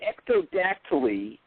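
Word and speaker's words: ectrodactyly: I got their confidence now how did you pronounce the uh the disorder itself again sorry it's called Ecto dactyly and what it is is a dis it's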